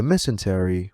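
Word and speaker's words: mesentery: The messenty, which rhymes with dysentery, is an organ that, funnily enough, has close relations with its fellow rhyming word.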